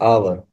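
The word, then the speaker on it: hour: को इस वर्ड को पढ़े एन आवर आवर आवर पर आपक फकस करें तो इसमें एच साइलेंट है और आवर का जो साउंड है यह बेसिकली एक वावल साउंड दे रहा है यानी एक अलिफ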